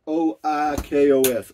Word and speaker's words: Oikos: what it is it's oh how do you spell it's o i o i kos oikos it's a yogurt but anyway ralph p